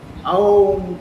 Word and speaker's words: ओम: बोलना है, क्योंकि ये तीन अक्षर हमको सुनाई पड़ना चाहिए, ओम करके बोलना। और पूरा वर्ड जो है आपका कंठ से निकलना, ओम, वो आवाज आना चाहिए। ठीक है ना, ये इस तरह से प्रोनाउंस करना चाहिए।